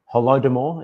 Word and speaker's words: Holodomor: And then in 1932 and 1903, we have the genocide and the famine of Holodomor, it's pronounced.